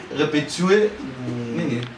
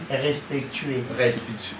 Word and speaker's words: respectueux: Répétueux. Pas bien. Respectueux. Respect, mais va comprendre.